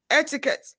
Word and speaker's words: etiquette: occur in certain words e in etiquette the first e u e after letter q in the same word etiquette the last e is silent e a in trite